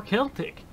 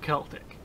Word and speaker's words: Celtic: I looked up that word, and literally you could either say Celtic or Celtic, whatever you want. So I'm gonna call it Celtic.